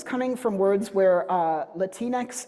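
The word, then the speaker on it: Latinx: So, this is coming from words where uh latinex is how it's pronounced by English speakers.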